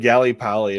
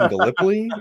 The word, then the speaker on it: Gallipoli: I pronounced it like Gip Pali. And my wife's like, "You mean Galipoly?"